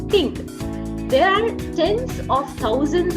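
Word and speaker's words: 听: Okay, this is this letter, Ting.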